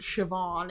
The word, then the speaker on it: Siobhan: okay so now I know this name is pronounced sioban even though it looks like Coban okay sioban